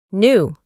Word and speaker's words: knew: Como pueden observar, la letra K no se pronuncia y la E la reemplazamos por la I. Knew.